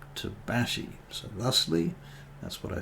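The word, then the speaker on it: tabaxi: of my campaigns um whereas some people like to say a to Backside autopaxi but um it is in fact a South American word and is apparently correctly pronounced to Bashi so lastly that's what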